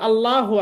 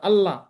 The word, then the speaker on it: الله: জবর পেশ থাকলে মোটা হবে, জবর অথবা পেশ থাকলে মোটা হবে। এই সিম্পল নিয়ম। এই জিনিসটা না জানার কারণে অনেকে ভুল করে থাকেন। বেশিরভাগই মানুষ দেখবেন যে বলে আল্লাহু আকবার, আল্লাহ।